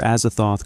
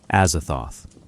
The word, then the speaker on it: Azathoth: Azathoth. Four syllables. Harsh consonants.